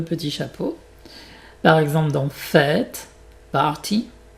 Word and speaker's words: fête: Par exemple dans fête, party, forêt. Donc tu peux t'imaginer que tu prononces ça comme un R accent grave, mais tu l'écris avec un chapeau.